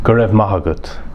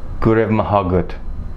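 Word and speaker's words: go raibh maith agat: You say Gurev Mahagut. Gurev Mahagut.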